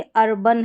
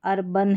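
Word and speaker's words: urban: तो यहां पर देखिए अर्बन है। ए एन है। यहां पर अर्बन है। इसको अरबान नहीं पढ़ेंगे। अरबैन नहीं पढ़ेंगे।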